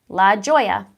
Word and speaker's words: La Joya: Lajoie yeah that's so I'm saying it right La Joya yeah I was right sometimes things come across